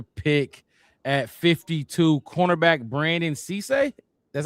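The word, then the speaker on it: Cisse: At 52, cornerback Brandon Cece, that's how you say his name.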